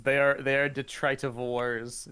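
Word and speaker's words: detritivore: they are they are Detroit of Wars DET detrit ofor is how you pronounce that they're only trying to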